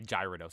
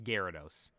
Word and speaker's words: Gyarados: Pokemon are wild I I'm joking when I say gyrados it's Gyarados but I I see people